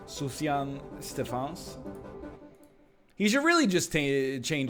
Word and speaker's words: Sufjan Stevens: Suf Jam Steve Hands. It's a good name. Sufjan Stevens.